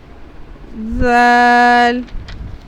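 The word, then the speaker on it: ذال: The makharaj of Dhal is pronounced from the front tip of the tongue touching the tip of the top front two teeth, like Dhal, like as Dhal.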